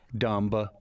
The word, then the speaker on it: dumb: Now, B is an interesting silent letter. Numb. Because, Limb. yes, and often after M's, right? Yes. Climb. Dumb.